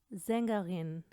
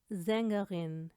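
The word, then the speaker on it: Sängerin: अगर ये शुरू में आए तो हम साउंड देते हैं ज की, जैसे कि ज़ेंगरिन, ज़ेंगरिन, ज़ोने, ज़ोने, सलाट, सलाट।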